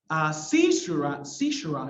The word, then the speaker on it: caesura: Caesura, I think is the correct pronunciation.